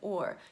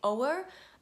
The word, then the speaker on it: o'er: Please note that I said or. You should not say o'er. The apostrophe is there to make it one syllable. That Shakespeare's done that for rhythm, so don't say o'er, ever, in Shakespeare.